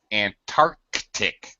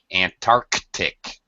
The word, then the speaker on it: Antarctic: And it is pronounced as a hard C, a K sound. Antarctic.